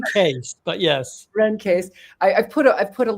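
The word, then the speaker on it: Caisse: saying her name wrong Renee Cassie is what I call her everyone does it's Rene Case but yes Ren case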